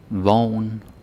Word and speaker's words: vogn: And I just noticed that two of these have G, but it's the same point, right? Is pronounced the same way. O-G-N, O-V-N. There's no difference in the pronunciation.